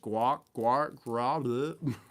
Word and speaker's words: Gwrach: I don't even know how to pronounce this. It's like Gwrach, a profoundly ugly winged hag.